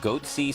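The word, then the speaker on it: Goatse Security: They're called Goatsy Security. Is that my pronouncing that correctly?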